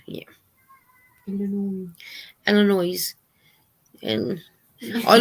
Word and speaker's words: Illinois: Illinois. And I like the way Cindy from Pups and Crochet says Illinois. She doesn't pronounce it with the S, I don't think.